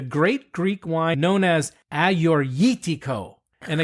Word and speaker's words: Agiorgitiko: Greek wine known as aortico and again I am embarrassed and ashamed to admit that I've been saying it as Ado but wait who have